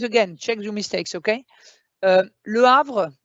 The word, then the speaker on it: Le Havre: Le Havre, remember we don't say it, but there is an H.